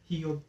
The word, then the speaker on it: Hiob: How do you say it in German? Hiob. H-I-O-B. Whatever.